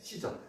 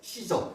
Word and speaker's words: 시저: 가사입니다이 지역을이가 이사로부터 받았어요 가이사를 뭐라고 하죠 시죠 예 시저 시저 다른 어 발음으로 시저 가사죠이가 이사로부터이 해록 대왕이 받았습니다 받아가지고이